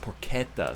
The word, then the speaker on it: porchetta: Oh, it's pronounced porchetta, sorry.